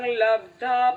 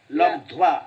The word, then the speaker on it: লব্ধ্বা: শ্রদ্ধাবান লভতে জ্ঞানং তৎপরঃ সংযতেন্দ্রিয়ঃ জ্ঞানং লব্ধা পরাং শান্তিম অচিরেনাধিগচ্ছতি। হ্যাঁ, এই লব্ধাটা লব্ধ্বা লব্ধ্বা, ওই আচ্ছা, বয় ধয় আকার, হ্যাঁ। বকলাটা আছে। জ্ঞানং লব্ধ্বা পরাং শান্তিম অচিরেনাধিগচ্ছতি।